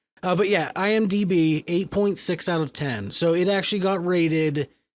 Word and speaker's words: IMDb: They literally said, for the love of God, please tell Michael it's IMDb, not IMBD.